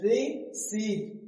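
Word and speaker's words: receipt: री सीट री सीट तो यहां जो पी है वो क्या है साइलेंट है क्यों क्योंकि देखो पी के बाद क्या आया है टी आया है यहां पी के बाद टी आया है और जब पी के बाद टी आया तो पी क्या हो जाता है साइलेंट हो जाता है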